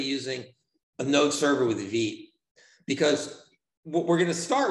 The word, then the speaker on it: Vite: Vite rhymes with beat.